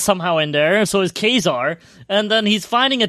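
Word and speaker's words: Ka-Zar: Wolverine is somehow in there, so is Kazar. And then he's finding a T-Rex, and then afterwards he defeats the T-Rex, and he tries to cook the T-Rex over a fire. It's pronounced Quasar. It's not Quasar, it's Kazar, motherfucker.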